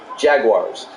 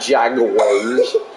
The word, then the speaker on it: Jaguars: timeout 55 seconds left I can't believe you used three syllables it's two syllables Jaguars not Jaguars third and two from